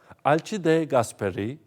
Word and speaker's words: Alcide de Gasperi: ...Alcide de Gasperi (okunuşu: Alçide de Gasperi), Altiero Spinelli (Altiero Sipinelli), ...